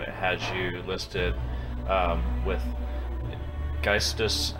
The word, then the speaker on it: Geistus: I was looking at the metal encyclopedia and it had you listed with Geistus and Vol. Is that the correct way to pronounce those? Yeah.